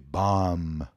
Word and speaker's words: bomb: também não tem B bam bam a bomba né o o artefato e o explosivo não tem o b final B final não é pronunciado assim como muitas outras